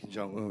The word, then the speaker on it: Jong-un: He agreed to meet with Kim Jong-un, which was something we hadn't done. I was in agreement with him meeting with him. I like how you pronounce his name, by the way. Jong-un is proper.